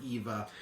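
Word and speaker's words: Aoife: l a o f i e but it's pronounced EA EA EA or Eva I've I've G with EA I got an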